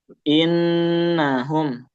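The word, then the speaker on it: إِنَّهُم: Dia enggak boleh terlalu cepat bacanya dan harus konsisten di segitu. Karena banyak orang yang bacanya dia tidak konsisten. Ada nun bertasdid bacanya terlalu cepat. Jadi tetap kita pasang D3 saja.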